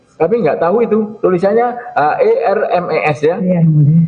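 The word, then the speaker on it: Hermès: Tulisannya HERMES ya. Iya yang mulia. Bacanya apa? Hermes yang Nah, mulia.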